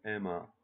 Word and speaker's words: Emma: Chloe, Emma. Fransızca'da çift harfler tek okunur. Ona dikkat edelim.